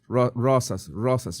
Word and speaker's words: Rosas: Rosas. You can say Rosas. I used to say, how did I pronounce my name incorrectly? I couldn't roll the R with my tongue, so I had to fake it.